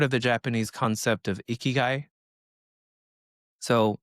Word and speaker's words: ikigai: And so, have you ever heard of the Japanese concept of ikiguai? So, it's spelled I K I G A I.